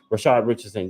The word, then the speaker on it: Rashad Richardson: If I'm saying that kid name right, let me make sure I'm saying his name right. Rashad Richardson, yes, that is his name. I'm saying it right.